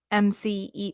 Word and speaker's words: emcee: Master of Ceremonies also known as MCE which is spelled e-m-c-e-e it's very confusing when